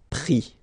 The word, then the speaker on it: pris: And then prendre, so ENDRE will give IS, pris, okay. Same thing here, you don't pronounce the final S, okay.